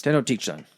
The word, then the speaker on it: Tenochtitlan: It's Tenochtitlan. You have to say it like 4 very large syllables.